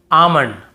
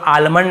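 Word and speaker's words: almond: डी एफ के एम डी एफ के एम इसके पहले एल हो तो हमें नहीं पढ़ना है। जैसे काम बाम पाम और यहां पे आमंड बहुत से लोग आलमंड ऐसे बोल देते हैं।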